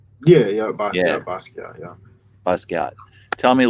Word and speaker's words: Basquiat: Um, Yeah, so tell me a little bit about Basquiat, and am I pronouncing that correctly? yeah, yeah. Yeah, Basquiat.